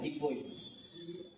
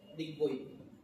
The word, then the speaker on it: DIGBOI: इसका स्पेलिंग है DIGBOI, डिगबोई, यहाँ पर लिखा है DIGBOI, डिगबोई।